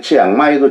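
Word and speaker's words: เชียงใหม่: 딱 끊어줘야 돼. 근데 한국 사람은 장모음, 단모음 이런 것도 없어요. 그러니까 치앙라이도 치앙라이, 치앙마이도 치앙마이.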